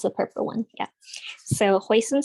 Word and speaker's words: hoisin: purple one yeah so hoisin sauce is the Cantonese pronunciation of heisen which literally means Seafood flavored but the ingredients actually